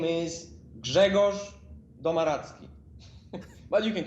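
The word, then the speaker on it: Grzegorz Domaradzki: to pronounce could you give us a proper pronunciation for everybody out there okay listen internet my name is jegos domaratsky but you can call me i went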